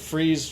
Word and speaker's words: Fries: it just said laura freeze that's his wife his name is he's german we talked about this that's how you pronounce freeze in german is that is spelled